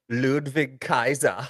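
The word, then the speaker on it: Ludwig Kaiser: don't say it right what's his name again ludvig Kaiser yes there you go um so anyways why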